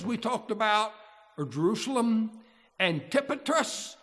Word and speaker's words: Antipatris: talked about are Jerusalem antipatris the accent on the tip okay I looked it